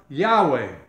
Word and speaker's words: Yahweh: what his name is i am yahweh yahweh that's how you say it the tetragrammaton in